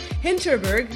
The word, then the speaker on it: Hinterberg: Mania and with me today is Kyle H hinterberg I said it right before the recording I